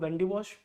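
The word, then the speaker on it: Wandiwash: of Wendy Bosch actually in Tamil Nadu there is a place called as vandavasi vasi but because of the anglicization of the language the place has been pronounced as Vandy wash now what is the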